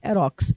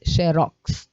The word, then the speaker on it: xerox: a sílaba tônica e a sílaba tônica de rubrica é bri rubrica e de xerox xerox xerox tá bom essa é a pronúncia correta sigamos então com o